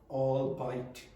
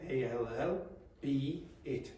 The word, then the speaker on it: albeit: Some native speakers make a mistake with the pronunciation and say things like all bite. But the word comes from three words. All a l l be it. So it's really all be it. Okay. All be it. Okay. You say all be it but quickly.